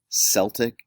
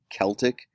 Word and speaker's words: Celtic: This is not called Celtic, it's pronounced Celtic.